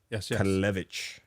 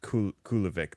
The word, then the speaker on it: Kalevich: Kalevich. Not Kulovic that I used to call him. Or Kulovich.